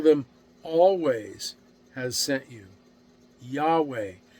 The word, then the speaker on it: Yahweh: always has sent you Yahweh is how we've come to pronounce that now y v now